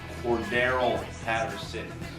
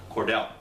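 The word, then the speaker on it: Cordarrelle Patterson: It's pronounced Cordero Patterson. Cordero. There is no silent R, making it Cordell.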